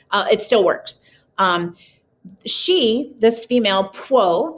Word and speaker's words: Pwo: This female, Pwo, that's how you say it, like Pwo, you just sort of run that PWO together, Pwo mask.